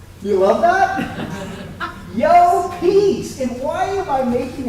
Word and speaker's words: Llopis: pronounce my last name so here it goes yo peace do you love that yo peace and why am i